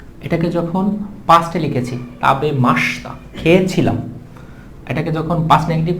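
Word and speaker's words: ました: মাস্তা কি দিতে হবে মাসতা দিতে হবে তাহলে এখানে আমরা লিখতে পারি হচ্ছে তাবে মাসিতা এটা উচ্চারণ করার সময় আসবে হচ্ছে মানে লেখার সময় আসবে হিসাবে মাসিতা কিন্তু জাপানিজরা মাসিতা বলে না এটাকে বলা হয় মাসিতা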